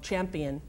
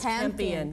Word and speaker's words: Campion: Jane, I always say her name wrong, Champion. It's Campion. Campion.